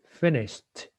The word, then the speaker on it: finished: So the ED will be pronounced like a T, finished.